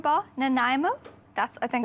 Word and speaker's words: Nanaimo: So we're making something called a Nanaimo bar. Nanaimo? That's I think how you pronounce it.